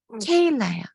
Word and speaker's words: 케일라: 네, 케일라인가요? 발음이 어떻게 되나요? 케일라요. 케일라. 케일라님, 네네.